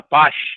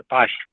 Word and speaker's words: पाश: नाग पास बोलते हैं ना, नाग पास वाला पास। हाँ, नाग पास। अच्छा, हाँ पाश, ठीक है पाश।